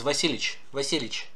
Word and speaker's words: Vasilievich: Ivan Vasilievich Braginsky. Vasilievich. But with these long words, we actually drop the Y and V, Yev, we drop that part, and it often comes out as Vasilievich.